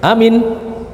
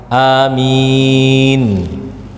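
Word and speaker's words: آمين: Amin. Ada 3 cara pengucapan. Yang pertama, amin. Yang kedua, amin. Yang ketiga, amin. Ya, dengan imalah.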